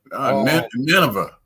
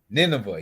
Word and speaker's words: Nineveh: How you pronounce that? Nineveh. Nineveh, yeah, Nineveh, yeah.